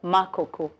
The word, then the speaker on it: Makoko: Say it right. Makoku. Good. I wanted to go to Makoko.